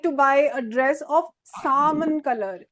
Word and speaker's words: salmon: Like you know, we say I would like to buy a dress of salmon color. L is silent. This is not salmon. This is salmon.